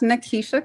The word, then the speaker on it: Nikisha: And Nikisha, am I pronouncing your name correctly? Yes, you are. Oh, thank you. My name is Nikisha, and I am the founder of the Lab Med Spa and Wellness.